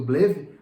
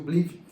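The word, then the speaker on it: BLEVE: Qualquer curso de bombeiro aí, as pessoas ouvem falar do BLIV ou do BLEV, da forma que vocês quiserem pronunciar, eu pronuncio o BLIV.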